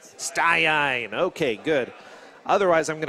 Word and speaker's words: Staiain: to say your name how do I pronounce that sine sine okay good otherwise I'm